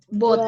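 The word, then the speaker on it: bought: have you already car bot ya bacanya ghnya gak dibaca jadi kan itu bot Nah ini kan bentuk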